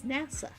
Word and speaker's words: NASA: Why do I always mispronounce it that way? It's NASA.